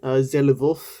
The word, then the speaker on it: Zelivov: This is how you spell it, Zelivov. That's how I say it, Zelivov.